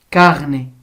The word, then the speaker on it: carnet: le le le le la lettre T mais on l'entend pas Carné donc on prononce pas t carnet tulipe oui t